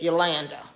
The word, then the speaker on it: Yolanda: land came along because the actual pronunciation of my name is yolanda okay i was born